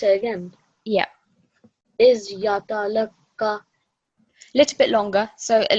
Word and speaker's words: يَتَلَقَّى: to read it is put 2 seconds on the end there. Shall I So pronounce it again? yeah, Is yatalaka. little bit longer. So at least 2 seconds. إِذْ يَتَلَقَّى. Is yatalaka.